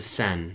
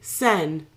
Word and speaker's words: Seine: I'm going to pronounce it wrong. Mm-hmm. I'm afraid to say it. Seine? The Seine. Seine.